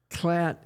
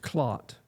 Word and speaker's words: Klatt: Klatt is the English pronunciation of a German name. In German, it's probably Klatt or something. It's pronounced Klott.